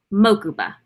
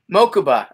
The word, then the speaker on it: Mokuba: There was one other name you need to learn how to pronounce. Hit me. Mokuba. Mokuba.